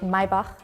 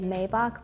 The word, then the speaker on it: Maybach: is Mercedes yeah yeah so in Germany we say Maybach in English I think we can say Maybach but I've honestly never